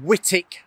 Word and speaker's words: Wightwick: got it wrong it it is actually pronounced whitic Manner and um if you're